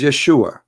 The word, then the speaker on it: Yeshua: pronounce the correct word the correct word in the Hebrew is Yeshua as simple as that